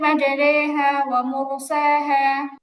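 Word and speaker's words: مَجْرٖىهَا: তাহলে আপু এখানে ইমালা হওয়ার কারণে মাঝে রিহা হবে না। কি হবে? মাঝে রে ওকে। পুরাটা উচ্চারণ হবে বিসমিল্লাহি মাজারেহা বিসমিল্লাহি মাজহাট হবে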